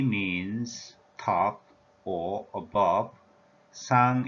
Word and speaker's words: 상: In Korean language, we teach 위, 상, 위, 상. 위 means top or above. Sang is the pronunciation in Korean language for this character.